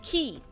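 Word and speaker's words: 木: Okay, this is a tree and it's pronounced key.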